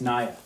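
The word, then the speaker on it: Niea: Well, my name's Naya. It's nice to meet you. Naya. Naya? Naya. Okay, Naya. It's spelled N-I-E-A.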